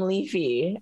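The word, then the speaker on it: Leif: I also love that you call him Leafy. I love that. Is it not Leafy? That's how it's pronounced, right? It's just Leaf, like a leaf.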